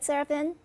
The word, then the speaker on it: Serafin: world but i want to say hello to seraphin love friend did i pronounce it right seraphin yep that's just perfect and right